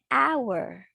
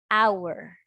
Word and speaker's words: hour: But it's an H. It's a consonant. Why? Is H is at the beginning of hour. Is silent. Silent. We don't read it.